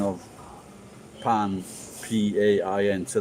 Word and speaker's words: pain: and the pronunciation of pan p-a-i-n so the spelling is p-a-i-n but the pronunciation is pan and this charming lady